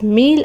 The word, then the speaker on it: mille: Then 1000 is pronounced as meal and is written as MELLA.